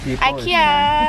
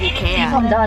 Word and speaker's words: IKEA: No, the Swedish pronunciation is Ikea.